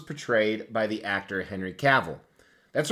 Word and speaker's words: Cavill: by the actor Henry caval that's right you say caval because it rhymes with travel that's the proper way